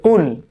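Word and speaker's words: قُلْ: সেটি হচ্ছে এই কুল। কেমন, এই কুলকে পড়তে হবে কিন্তু কফ উচ্চারণ করে, কফ কাফ না।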